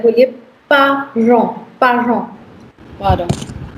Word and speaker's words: parents: Parents. Parents. The T's are silent. So it's parents. En is on.